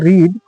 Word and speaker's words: read: अब देखिए हमने लिखा है रीड लेकिन पढ़ रहे हैं रेड, क्योंकि अगर आप देखेंगे तो रीड का जो V3 होता है रेड, रीड ही होता है, लेकिन इसको प्रोनाउंसिएशन हम रेड कहते हैं।